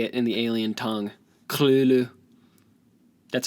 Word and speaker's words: Cthulhu: the second the second make sure the second the second syllable is made with a guttural noise obviously Wow ok very